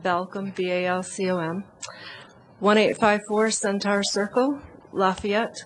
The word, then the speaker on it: Balcom: It's pronounced Balcom, B-A-L-C-O-M.